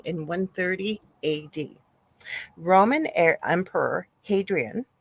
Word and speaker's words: Hadrian: Roman Emperor Hadrian, I think it's Hadrian or Hadrian, it's Hadrian, was traveling the Nile when his young Greek lover, Antinous, mysteriously drowned under freakishly calm waters.